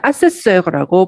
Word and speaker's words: assesseurs: 아세스라고 발음해야 됩니다.